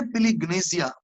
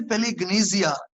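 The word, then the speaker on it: palingenesia: लफ्ज है पिलिग्नेसिया। ये ग्रीक का वर्ड है। मैं दोबारा इसके स्पेलिंग भी आपको इंग्लिश में बता देता हूं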